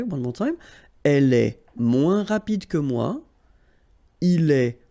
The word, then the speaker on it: moins: And then, moins. Same thing here. Remember, we don't pronounce the final S. Then you put the adjective que, than, and the rest of the sentence. Okay? Elle est moins rapide que moi.